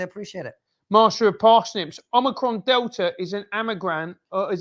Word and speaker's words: omicron: and fauci and others keep mispronouncing omicron as omnicron can't someone let them